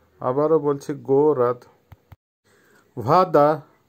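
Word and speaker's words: вода: ভাদা, ভাদার অর্থ হবে পানি বা ওয়াটার, উচ্চারণ হবে ভাদা, আবারও বলছি ভাদা।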